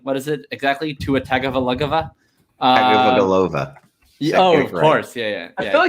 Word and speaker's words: Tagovailoa: Tua Tagovailoa?